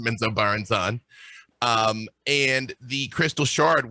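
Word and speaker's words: Menzoberranzan: with bob salvatore which was tremendous um to pronounce the the trail city is menzo baranzan which is that's a thing now didn't know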